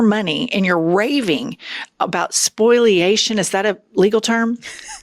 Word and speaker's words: spoliation: all of your money and you're raving about spoliation. Is that a legal term? It's not It's not spoilation. Spoilation. Okay. So he pronounces it wrong.